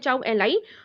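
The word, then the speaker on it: Zhou Enlai: वो थे चाउ एन लाई, ठीक है, इसको प्रोनाउंस करते हैं चाउ एन लाई।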